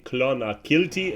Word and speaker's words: Clonakilty: move over here my I always need to pronounce it correctly clonakilty it's actually in the name of the village